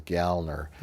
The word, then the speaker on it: Kyle Gallner: I heard and that's the proper way to pronounce it is gallner he was pushing for a a tweeting about